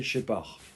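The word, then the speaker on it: Scheppach: Ça se prononce Shepard, mais ça s'écrit S-H-E-P-A-C-H. Shepard. Et c'est Shepard.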